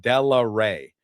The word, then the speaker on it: Delaere: bit of authority in how that last name is pronounced that it's uh Della Rey is the phonetic way to spell it.